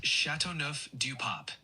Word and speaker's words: Châteauneuf-du-Pape: I was talking about Châteauneuf-du-Pape, the wine. Got it. For the wine Châteauneuf-du-Pape, it's pronounced Châteauneuf-du-Pape.